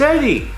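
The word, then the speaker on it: ED-E: the new Vegas companions now I've heard this guy's name pronounced in ways that sound distorted looking at you British youtubers I mean what it's Eddie Eddie is a prototype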